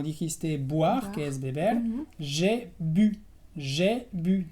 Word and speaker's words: j'ai bu: O el verbo también, como dijiste, boire, que es beber, j'ai bu. J'ai bu, también con la U francesa.